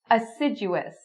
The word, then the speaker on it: assiduous: Assiduous, assiduous. So again, you're looking for the j sound.